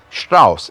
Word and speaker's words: Strauss: And Strauss, in German, ST makes the st sound. So Richard Strauss.